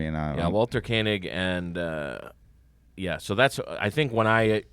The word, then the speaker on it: Koenig: He pronounces it Kanig.